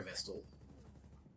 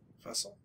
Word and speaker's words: Vestal: we killed the fire Vestal vestel no Vestal it it is pronounced vest they say vestel several